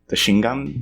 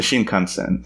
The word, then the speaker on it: Shinkansen: And I'm going to mispronounce it. It's like the Shingan? The Shinkansen. The Shinkansen, thank you.